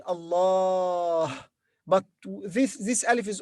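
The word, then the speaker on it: الله: you may notice here there is alif we pronounce alif long vowel in the middle we say allah but this this alif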